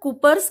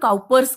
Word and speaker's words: Cowper's: The next is the Cooper's gland. It is also called Cowper's gland. Okay, some people call it Cooper's and some call it Cowper's. Both the pronunciation is correct.